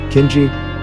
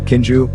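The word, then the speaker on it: caoineadh: who wails a lament in Irish Kina, pronounced Kinji, Munster dialect Kinj, Connaught dialect, or Kinju, Ulster dialect, queen meaning to weep, to wail.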